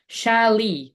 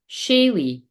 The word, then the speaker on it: Shaylee: Oh, no, wait a minute. I'm still saying it wrong. Shaylee. Shaylee. Oh, so I was saying it totally. What you're trying to tell me is I was saying it totally wrong.